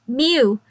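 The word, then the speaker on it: μ: Currently, an adaptation of the series is running as a web manga, Himitsu no Akko-chan U, pronounced Myu, M-Y-U.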